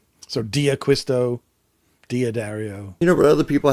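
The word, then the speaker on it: D'Addario: If it's D apostrophe, you say D and then the rest of the word. So Diaquisto, Diodario.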